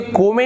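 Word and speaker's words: come: उसी प्रकार से देखिए ई साइलेंट, यहां पर क्या होता है, अंतिम में ई लिखा तो होता है लेकिन उसका उच्चारण नहीं करते हैं।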